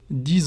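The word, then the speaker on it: dix: it's going to be dis ordinator which the X at the end pronounced as Z dis ordinator why it's again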